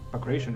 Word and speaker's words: Bagration: And the idea of launching Operation Bagration, I think, yes, Bagration, I think should be the correct pronunciation, arose when I was